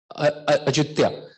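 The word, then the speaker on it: Ayutthaya: In fact, there is a city called, they call it Ayodhya, but the pronunciation Ajutya, right?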